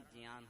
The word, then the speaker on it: ज्ञान: ज्ञान बोला जाता है उसका सही उच्चारण ज्ञान है तो मैं जब जियान कहूं तो आप उसे ज्ञान समझ लेना ठीक है तो मनुष्य